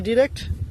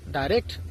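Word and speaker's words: direct: অর্থাৎ ডাইরেক্টও সঠিক উচ্চারণ, ডিরেক্টও সঠিক উচ্চারণ।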